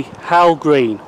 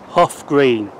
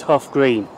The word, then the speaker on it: Hough Green: This is the second station I'm visiting today, Hough Green, which is the wrong pronunciation of this station. It is actually called Hough Green.